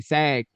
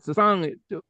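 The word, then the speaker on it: sag̃: because I used to people say Sag, but Sang, as far as how we're taught in Sumerian courses, because this makes the like you say, ing, like sun. What's it? Give me something that rhymes with ing. Sing, catching, running, dating. That is what was in this field identify this song as being sung. It's like a throat, like ing, Sangiga.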